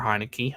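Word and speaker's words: Heinicke: It is pronounced Taylor Heineke.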